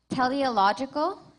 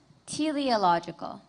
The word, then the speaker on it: teleological: Your word has 2 pronunciations, teleological, teleological.